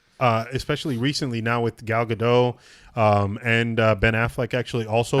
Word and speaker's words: Gadot: recently now with Gal Gadot and Ben Affleck actually also I thought tweeting. it was Godot. No, I think it's Gadot. I think it's Gal Gadot. It's not Godot.